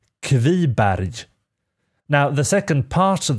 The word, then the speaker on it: Kviberg: you pronounce the name in this case it's pronounced heavy barrage now the second part of their bad is